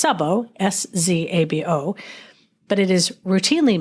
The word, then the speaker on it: Szabó: It's Szabó, S-Z-A-B-O, but it is routinely misspelled and mispronounced.